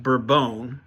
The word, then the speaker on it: Bourbon: this coffee um in the coffee world it's pronounced bbone and it refers to the varietal of coffee